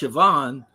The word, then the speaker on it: Siobhan: So, you see how it's spelled. Yeah. And then it's pronounced Siobhan.